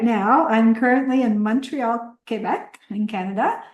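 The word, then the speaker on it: Québec: Right now, I'm currently in Montreal, Quebec, in Canada. Some people call it Quebec, but it's actually pronounced Quebec.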